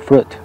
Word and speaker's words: fruit: A piece of fruit, una fruta, a piece of fruit. Observa que decimos fruit, pronunciamos una U, fruit, no pronunciamos una I, decimos a piece of fruit, una fruta.